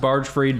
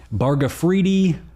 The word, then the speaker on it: Bargfrede: Uh, yeah, we it's it's pronounced barge freed, but I get um barfredi. I get barge freddy.